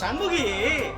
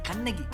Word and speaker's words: Kannagi: Miss Shanmugi! Uncle, say her name correctly! It’s Kannagi. She might burn us down!